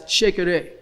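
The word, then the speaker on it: shekere: instrument is known as sheikah take the word shaker and put the syllable ray on the end and it's it's a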